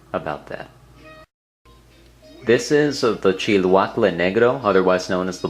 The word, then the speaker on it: Chilhuacle: Chiluacle is not a Spanish name, it's actually a Nahuatl name, in other words, Aztec name for this particular chili.